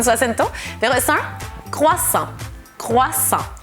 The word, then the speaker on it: croissant: Croissant, ni puedo hacerlo con su acento, pero es un croissant. Croissant. Así que la T no la pronunciamos, A-N hace el sonido en y O-I hace el sonido wa, así que croissant, croissant.